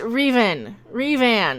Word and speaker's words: Revan: Also, it's pronounced Revan.